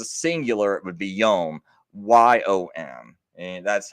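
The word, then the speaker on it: יום: Or if it was a singular, it would be yom, YOM. And that's how you pronounce it in Hebrew, right?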